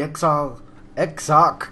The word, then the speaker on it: Exarch: I'm in Elador Fields, and I've got a quest called the Exarch Council. That's how you pronounce that, John.